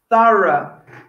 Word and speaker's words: thorough: this person as very thorough thorough now look at that spelling okay i chose this word because this bit o-u-g-h the last four letters could be pronounced in many many different ways you need to look